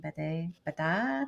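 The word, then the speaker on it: Bédat: her last name uh it's french so that would be not the thing that i could ever pronounce the god french is not my i am not great at french um but it's b-e-d-a-t and there's an accent maxine baday hey french people i'm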